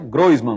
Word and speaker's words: Groisman: Não se espante não com a pronúncia, é Groisman mesmo, ele vai até explicar por quê.